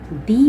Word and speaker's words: the: हैं, तो इसको हम दी प्रोनाउंस क्या करते हैं, दी प्रोनाउंस करते हैं। जब हम स्वर या वॉवल या एन के साथ इसको यूज़ करते हैं तो उसको हम दी प्रोनाउंस करते हैं।